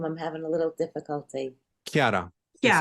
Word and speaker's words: Chiara: Chiara. Yeah. It's like a hard, it's like a K. It's like a CH K.